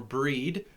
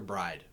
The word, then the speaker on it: Brigid: irish celtic traditions was all about bride or breed or brigid or bridget um i know a lot of people usually call her just bridget or bridget but i call her bride so bride is an